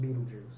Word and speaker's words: Betelgeuse: Even though it's spelled differently than the Betelgeuse. That's kind of what it looks like, but it is pronounced Beetlejuice.